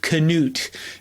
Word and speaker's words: Knute: This is my first video mentioning Knute Rockne.